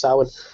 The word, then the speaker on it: Samhain: I'm most familiar with Samhain, which is spelled funny. It's Samhain and then pronounced Samhain.